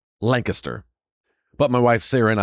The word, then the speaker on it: Lancaster: It's spelled Lancaster, and everywhere else in the states, Lancaster, California, uh it's Lancaster, uh but in Lancaster, it's pronounced Lancaster.